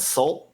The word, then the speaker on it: Sault: It was the band called Salt, but it's spelled Sault.